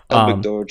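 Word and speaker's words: Elbegdorj: Mongolia almost immediately because Egbert Doğ, am I pronouncing that right? I think I am. Elbigdorge, yeah. Yeah, Egbert Doğ.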